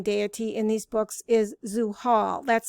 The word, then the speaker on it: Zuhal: for the saturnine deity in these books is zoo hall that's spelled z-u-h-a-l which means the one who is